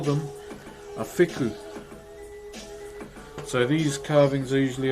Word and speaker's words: wheku: So wheku is spelled W-H-E-K-U, but our W-H is pronounced as an F, if that makes sense, but is it a bit hotter there today?